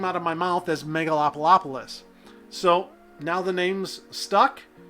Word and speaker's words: Megalopolis: Megaopolis! Yes, that is a misspelling and a mispronunciation. And I know it's the 80,000 mark. I'm pretty darn sure this is the milestone for Megalopolis.